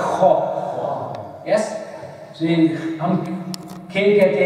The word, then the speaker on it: خ: ہا پھر ہے خو جیسے کہ کوئی گلا صاف کرتا ہے خو.